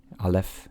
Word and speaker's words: Alef: Alef is how you pronounce that. And this is the first letter. It's typically silent unless it's given a vowel.